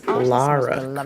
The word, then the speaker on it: Lara: Raider game and Alex was talking about Lara Croft not Laura Croft which I feel like